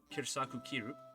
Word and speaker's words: Kyru: so first and foremost my full name kirisaku although kairu is also an acceptable pronunciation because i know some people have troubles rolling their r i also carry the